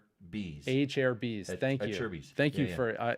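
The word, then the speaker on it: Acerbis: FMF gnarly FMF 2.1 how do you say this again a cheris a cus a CH a Cher a a chair bees a chair bees thank you a thank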